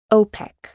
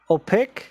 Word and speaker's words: OPEC: letters okay let's see which are the abbreviations that are pronounced as words we know that aids also narrow then OPEC also pin this is the same in Spanish and UNICEF excellent so the rest of